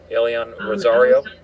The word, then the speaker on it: Elyan Rosario: Um, pronounce that correctly for me one more time to everyone. Elon Rosario.